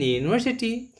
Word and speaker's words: university: So its main reason is that when you pronounce the university in Hindi, this is something like this. So this y sound is known to be the consonant.